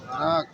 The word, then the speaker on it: নেক: দেন নয় আকার ক উচ্চারণটা কি হলো দেনতা নয় আকার ক একটু বলেন না নাক আপনারা তো নাক নয় এক আর ক না নয় ঠিক আছে নয় এক আর ক নেক নেক এখানে বোঝা ব্যাপার